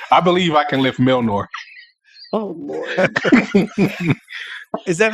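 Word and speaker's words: Mjölnir: Nordic J's are like Y's, I guess. So it's Mjolnir. Milnir.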